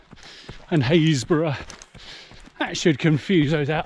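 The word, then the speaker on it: Happisburgh: And the other three, well, it's Tackleston, Windham and Haysborough.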